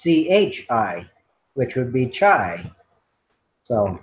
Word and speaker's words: chi: be using Tai squared yeah but if your pronunciation says it should be Chi uh yeah you're right fine Excel it's CH I which would be chai so um in the